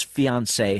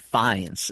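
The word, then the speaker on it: fiancé: Like right here, Heis explains that Ed's fiance had run off with a student cosmetologist who knew how to apply her feminine WS. And just the way that Ed pronounces it, fines instead of fiance.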